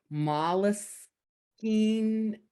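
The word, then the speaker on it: Moleskine: whole bunch of um i think it's pronounced mollus king notebook i found out i was pronouncing it wrong so yeah so that's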